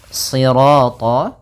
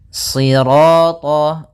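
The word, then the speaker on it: صراط: Kemudian pada lafal sirat ya kembali lagi di sini shadnya tebal jangan dibaca dengan huruf sin.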